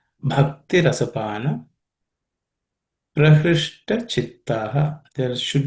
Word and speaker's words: bhakti: This bha has to be aspirated. Bhakti rasapana.